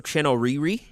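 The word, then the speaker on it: Chinouriri: so there's an artist her name is Rachel Chino Riri and that last name is spelled c h i n o Ur r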